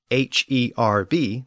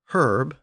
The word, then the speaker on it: herb: English speakers so today do you pronounce h e RB the plant as herb or herb well it probably depends on which side of the Atlantic you're on in Latin the H